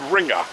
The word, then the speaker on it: Ringer: it's spelled ringe but I actually looked up the German pronunciation of it and it's called ringer now Hermann Ringer's house